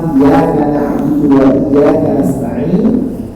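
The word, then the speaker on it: إِيَّاكَ نَعْبُدُ وَإِيَّاكَ نَسْتَعِينُ: Nah, makanya di lafaz iyyaka na'budu wa iyyaka nasta'in itu pun tasydidnya harus dibenarkan. Iyyaka na'budu wa iyyaka nasta'in, sampai seperti itu.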